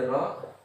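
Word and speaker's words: rho: itu ini ro ya ini ro eh dibacanya ro ya dibacanya ro ro ini artinya masih jenis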